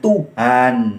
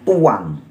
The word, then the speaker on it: Tuhan: Kalau dikasih huruf H jadinya bacanya Tuhan, an kebaca. Tapi kalau nggak ada huruf H di tengah jadinya tuang.